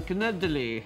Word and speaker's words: canederli: got an Italian dish on the menu I pronounce that again canederli had an answer there's also with an accent